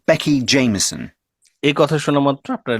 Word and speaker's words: Jameson: Jameson. J-A-M-I-E-S-O. ই এস ও, জেমি, সো, তারপর N. এন বলেছে লাস্টে। তো চলুন আরেকবার আমরা উচ্চারণগুলো শুনে দেখি। Jameson.